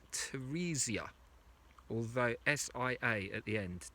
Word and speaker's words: Teresia: this way, and that people have always called you Teresa, though it clearly doesn't look like that. And I said, well, Asia is A-S-I-A. Surely your name should be pronounced Teresia.